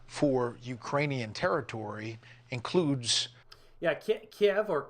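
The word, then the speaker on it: Kyiv: Yeah, Kiev, or Kev, as it's pronounced properly, is up in this region here.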